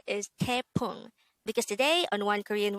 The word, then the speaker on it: 태풍: number 188 this is pronounced as a two-syllable word the first syllable is te the second syllable is pong pronounce it with me the word tepung is a noun which